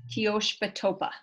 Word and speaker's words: Teoshpatopa: Teoshpatopa. Okay, I'm not going to try to repeat that again, but thank you. Say it again one more time. So it's Teoshpa and then Topa. Teoshpa Topa.